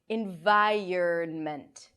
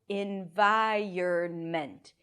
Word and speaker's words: environment: after the r but in fact what happens is that the vowel is actually pronounced before the r listen again in VI